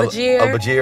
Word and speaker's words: Elbagir: I'm like, it's like, you know, Al-Bagir, you have to. Yeah, Elbagir.